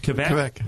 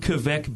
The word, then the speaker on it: Kveik: Kveik.